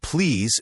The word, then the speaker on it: please: The word please should have a clear Z sound at the end, not an S.